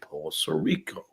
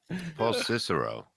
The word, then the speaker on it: Paul Cicero: Much like Paul Savino was when he played Paul Sorico. That's not how that word's pronounced, dummy. Paul Cicero.